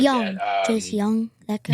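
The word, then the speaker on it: Jung: Jace Young, that guy. Young. Yeah, it looks like June. It's spelled weird.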